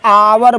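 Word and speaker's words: hour: पहला अक्षर देखिए आपका एच है। एच कंसोनेंट है। लेकिन इसका उच्चारण क्या हो रहा है? आर ऐसे बोलते हैं। आर मीन्स या आवर बोलते हैं।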